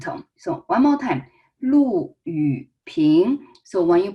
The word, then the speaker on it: Lu Yuping: One is Lu Yuping. So make sure Lu is a fourth tone. We learned that fourth tone is a falling tone.